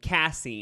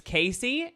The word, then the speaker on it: Cassie: use my real name cassie and she even taught us how to pronounce it some people think it's casey and here's my photo